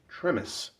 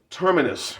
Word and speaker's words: Terminus: score 8.8 for the tremus trinus or termus tremus travis terminus i'll tell you right now right there there it is pronounced terminus excuse me baltic porter